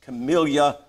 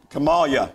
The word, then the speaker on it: Kamala: pro-death candidates the the vice president uh miss camilla harris made the statement i said it wrong kamala kamalia harris made the statement that it's not